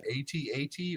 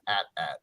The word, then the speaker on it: AT-AT: you call it an 8080 or do you call it an AT-AT and there is a correct answer to this and if you say it wrong I can't agree with you it's at at what come on Derek